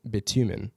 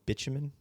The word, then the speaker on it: bitumen: Asphalt composition is about 5% to 10% bitumen, which is the petroleum-based binder that they used. Is it called bitumen? Bitumen. I don't know. I think it is pronounced Bitumen?